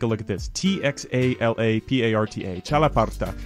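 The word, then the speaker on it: txalaparta: to pronounce for sure but it's called the chalaparta it's spelled now take a look at this t-x-a-l-a-p-a-r-t-a chalaparta it's a sort of xylophone and it has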